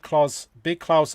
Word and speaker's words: Klaus: on a Hans Christian Andersen tale called Big Klaus, Little Klaus. Okay. All right, but it's spelled with a K, not a C.